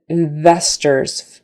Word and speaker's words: investors: Remember, V is just an F with your voice on. Investors. Teeth on the bottom lip. Investors. And that ORS, a lot of times in English, that final syllable, if it's unstressed, and it is because we're putting our stress on the second syllable, investors, investors, that final